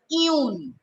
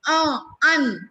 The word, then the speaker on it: un: If you say un, it becomes wrong. Un is what? Un is English pronunciation of un. But in French, it is pronounced un.